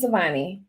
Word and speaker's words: Souvanny: And so uh we wanted to introduce you to Katie uh I think that it's pronounced uh Suani. Is that correct? Yes. Savani.